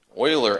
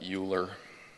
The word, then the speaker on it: Euler: Euler angles, that's how you pronounce that. I had to look it up. It's not Euler, like nuclear.